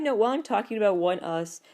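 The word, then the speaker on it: ONEUS: while I'm talking about one us doesn't it sound a lot better if you pronounce it onas I know it's not how you should pronounce it but to be or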